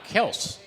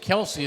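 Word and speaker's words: Kelce: well you know his his name was really Kels and somebody when they still lives yeah it's kill somebody yeah right but they but someone mispronounced it Kelsey and it just stuck right so they said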